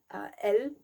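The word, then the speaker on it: elles: And then he says elle, this is the plural form. We also don't pronounce the last letter, so that also gets confused with the singular form elle, which means she.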